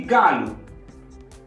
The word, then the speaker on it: galo: Primeira sílaba lê-se ga e a segunda sílaba lu. Formam a palavra galo. O aqui no fim não tem acento, então o som é u.